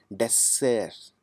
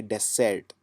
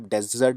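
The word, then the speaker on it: dessert: इसको जो प्रोनाउंस करेंगे वो करेंगे डेसर्ट। या फिर जो कॉमन उच्चारण है उसमें आप डेजर्ट भी बोल सकते हैं, लेकिन थोड़ा सा इसमें जो साउंड है वो आपको जोर कम लगाना है।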